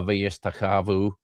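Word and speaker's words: וַיִּשְׁתַּחֲווּ: It's easier to say uh vayishtachavu than it is to say uh vayishchavu.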